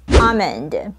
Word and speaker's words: almond: you please read it first this word is pronounces almond look at the IPI symbols it is also